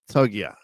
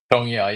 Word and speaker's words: Tongia: Now, I quite like King Togia. Is that how I pronounce it? Tongia, yeah.